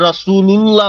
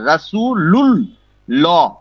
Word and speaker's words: রাসূলুল্লাহ: এখনকার মানে 10-এর লোক এমন হয়ে গেছে, ম্যাক্সিমাম মসজিদে ভুল বলে, মুহাম্মাদুর রাসূলুল্লাহ বলে, আর কেউ যেমন আমি যেটা সঠিক জানি, মানে মাঝে মধ্যে আমিও আজান দেই, জি তো আশহাদু আন্না মুহাম্মাদার রাসূলুল্লাহ হবে, কিন্তু রসুলুল্লাহ বলে, রসুলুল বলে, লামের উচ্চারণ করে।